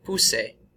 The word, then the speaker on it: puse: So its new stem is pus, and so here's how we pronounce these. You can say these with me. Puse, pusiste, puso, pusimos, pusieron.